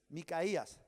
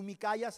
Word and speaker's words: Micaías: Micaías, porque tú Micayas es otra cosa, ¿no?